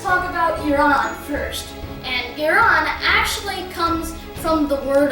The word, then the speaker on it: Iran: Now, the pronunciation of Iran is, well, Iran, but some people, especially in America, pronounce it as Iran or Iran, which is commonly pronounced, although it is not necessarily correct.